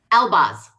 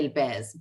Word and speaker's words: Elbaz: Elbaz. Elbaz. Okay, just how it's spelled. Okay. Yes, the phonetic pronunciation is Elbaz. If it was in Arabic and I was speaking with somebody who's Arab, I'd say Elbez, but you know.